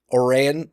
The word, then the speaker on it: Oran: Oran and I said it right this time Oran uh High School there they're the defending class